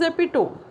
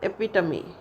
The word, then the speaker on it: epitome: Spelling is epitome, but sound is epitome.